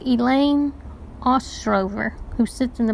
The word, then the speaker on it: Elaine: "That's Elaine," I replied. "Rhymes with pain."